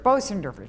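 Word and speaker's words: Bösendorfer: Bosendorfer, thank you. That's actually a very difficult name to pronounce.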